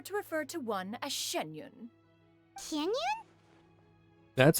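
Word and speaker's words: Xianyun: From this point on, when in public occasions, be sure to refer to one as Shenyun. Canyon? That's how you pronounce it.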